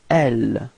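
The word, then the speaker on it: elles: So masculine form is e, alright, final X is not pronounced, e, repeat, e, okay, and then feminine form, elle, final S is not pronounced, elle, repeat, elle, okay.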